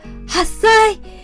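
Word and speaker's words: 八歳: the last one is 10 years old we pronounce it so one year old is sign eight years old hassai ten years old just say we got three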